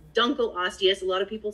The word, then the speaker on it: Dunkleosteus: who told me it's dunkleosteus a lot of people say dunkleosteus he's like no it's dunkleosteus because it was named after mr dunkle yeah makes sense that